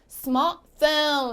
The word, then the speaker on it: smartphone: 여기 가운데 있는 T는 잘가 안녕 해주시고요. 탈락해주시고요. 그러면 smartphone, smartphone 이렇게 발음을 해주실 수 있습니다.